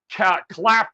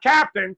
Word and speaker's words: Clapton: Not Captain, Clapton this time. Oh, Clapton. All right, before I address Clapton, let me address my esteemed colleague there who was mouthing off. I only have a 2-word rebuttal. Oh. Stiletto boy. Oh, all right. wow. Let's just move on to Clapton. And Clapton rhymes with Slapton, and that's what Sig